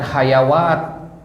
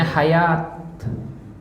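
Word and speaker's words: حياة: wau di situ kan Nah bacanya bukan hayawat ya Tapi bacanya Hayat ya Jadi ada wau di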